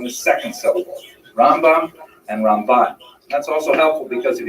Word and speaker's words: Ramban: on the first syllable ran and ran is pronounced with the empis on the second cable rambam and ramban that's also helpful because if you can't quite